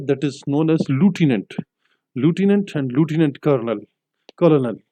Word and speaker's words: lieutenant: नाउ लेफ्टिनेंट की जो accurate spelling है LIEUTENANT, इसको हम पढ़ेंगे लूटिनेंट। अगर जो सही और दुरुस्त प्रोनाउंसिएशन अंग्रेजी ज़बान में, तो उसको हम लूटिनेंट कहेंगे, लेकिन हम अपनी ज़बान में और फ़ियाम में लेफ्टिनेंट लेफ्टिनेंट भी कहते रहते हैं।